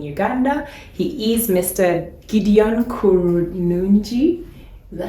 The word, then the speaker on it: Kurunungi: Gideon Kurunungi. Is that how you pronounce it? Yes, you got it. Kurunungi, and he is a founder of Impact Sourcing,